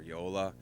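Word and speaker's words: JOOLA: there probably are are Yola which is spelled j o l a okay cirk um those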